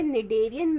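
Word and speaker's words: Schneiderian: Present होती है वो यहाँ पे एस जो है वो साइलेंट है। ओके, तो यहाँ पे निडेरियन मेम्ब्रेन प्रेजेंट होती है, कहाँ पे प्रेजेंट होती है, ऑल्फैक्टरी रीजन पे प्रेजेंट होती है।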